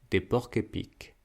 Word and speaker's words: porcs-épics: Mais attention, dans les mots composés au pluriel, la liaison ne se fait pas avec le S, on continue de faire la même liaison qu'au singulier. Un porc-épic, des porcs-épics.